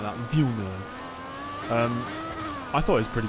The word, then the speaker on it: Villeneuve: Well, I think Doom Part 1, the Denis Villeneuve, why did I say it like that? Villeneuve.